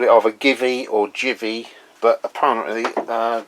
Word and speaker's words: Givi: Um is uh I've called it either Givy or Jivvy, but apparently uh Jivvy is the correct pronunciation.